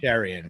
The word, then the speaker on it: Cherian: So and I ask because I'm always so paranoid of name pronunciations. It's Cherian. Cherian. Yep. Cherian, correct.